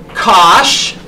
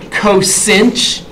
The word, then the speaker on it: cosh: Cosh is how I pronounce it. Some people pronounce it, you know, cosinch.